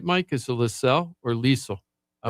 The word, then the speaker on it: Liesel: Hi, It's like Lisa, but with an L at the end. So Yeah. like Liesel. Okay, Liesel. Rhymes with diesel.